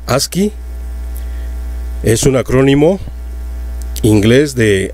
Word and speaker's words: ASCII: la tabla de caracteres a sc y se pronuncia aquí es un acrónimo inglés de american standard code